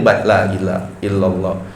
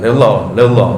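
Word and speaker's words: لا إله إلا الله: Jadi kita baca nih supaya enggak galau badan kita nih lailahaillallah ya. Bacanya lailaha boleh apaanya wakaf lailahaillallah atau di sambung lailahaillallah ya jangan laillah laallah loh enggak jelas itu ya jadi harus itu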